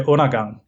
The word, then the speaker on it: Undergang: I mean, in America we would just say Undergang, but how is the correct way of saying it? Oh, we say Undergang.